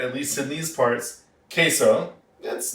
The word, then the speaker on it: queso: It is spelled like that way, and it is pronounced queso. Now, you'll most commonly hear it, at least in these parts, queso.